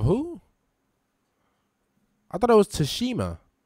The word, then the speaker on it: Tsushima: I thought it was Tsushima. I thought it was Ghost of Tsushima. Have I been saying it wrong the whole time?